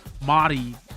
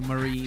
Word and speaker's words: mari: Mari, not say Marie, like it's a girl's name.